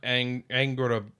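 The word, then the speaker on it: Angrboða: It's like Angrabora or something like that. Angrabora. Oh, that's pronounced Angrabotha. I think that's pronounced as a Angrabotha.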